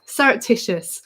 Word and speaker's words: surreptitious: so here we go surreptitious i've broken it down into four syllables for you so you can practice saying it nice and clearly rep tish us and it means um